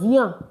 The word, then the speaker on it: viens: The S is not pronounced. It's not viens. It's viens.